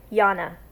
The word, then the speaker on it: Jana: to sign off with my name is pronounced Jana my father is Greek and its European name so Jana is my